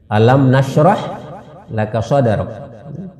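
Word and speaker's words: أَلَمْ نَشْرَحْ لَكَ صَدْرَكَ: Ini juga penting kita ulang-ulang membacanya supaya orang yang belum tepat cara mengucapkan ayatnya juga sekaligus bisa membetulkan. Oh, selama ini ternyata saya salah ya. Alam nashrah laka sadrak. Alam nashrah laka sadrak. Ya, seperti itu cara mengucapkannya. Ya.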